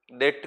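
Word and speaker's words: debt: income कहेंगे नॉन डेट डेट का मतलब क्या होता है बी साइलेंट रहता है डेट का मतलब होता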